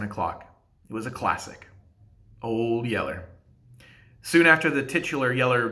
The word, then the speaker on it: Old Yeller: It was a classic, Old Yeller. Soon after the titular Yeller dog was introduced, I noted to my parents that they were pronouncing it wrong, and that it should be Old Yellow.